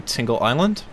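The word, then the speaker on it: Tingel Island: our way over to tingled island it's spelled tinggal island like t IM GL but it I pronounce it like tingle because everyone loves tingle right right right guys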